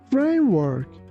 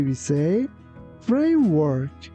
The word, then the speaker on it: framework: When pronouncing letter W, be careful that we don't say V. We say W. Your lips shouldn't touch each other. That's why we say framework.